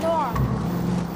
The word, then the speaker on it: Noire: Chị chơi game tên là L.A NOIRE. Phát âm trở là noir.